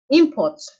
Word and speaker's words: import: But when you say import, the stress has shifted from the first syllable to the second syllable.